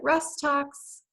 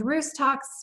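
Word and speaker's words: Rhus tox: look at rust talks some pronounce at rest talks I learned roost talks because when I studied this homeopathic remedy I was studying with a school in England correspondence course and it was always nice talks so I I think I pronounce it differently than other Americans it's just I don't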